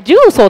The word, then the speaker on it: 十三: 13 点って何ですかってね、これ重曹って読むんですよ。重曹って読むんだよ。